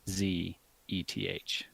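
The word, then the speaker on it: Szeth: they just pronounce that zth yes zth they pronounce it zth as in a z and then eth they just eth yeah the S is silent is in the audio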